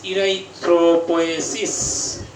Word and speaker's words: erythropoiesis: সবাই লিখে নেন IRYTHROPOIESIS, ইরাইথ্রোপোয়েসিস। বানানটা একটু লিখে দেন চট করে যারা পারেন। IRYTHRO ইরাইথ্রো, POIESIS ইরাইথ্রোপোয়েসিস।